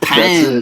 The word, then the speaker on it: pain: You say like pan, the pan, and that's bread.